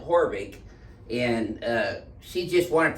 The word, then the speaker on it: Haavik: spinal research foundation heidi horvick spelled h-a-a-b-i-k it's spelled havoc but she pronounces it horvick and uh she just